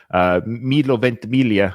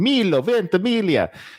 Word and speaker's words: Milo Ventimiglia: Milo Ventimiglia. I'm so proud I know how to pronounce his name. Milo Ventimiglia.